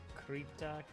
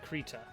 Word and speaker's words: Krita: So we're gonna actually do the drawing in Krita. I'm gonna look up how you pronounce that. How do you pronounce it? Let's see here. Okay, the devs say Krita. There you go. It is officially Krita.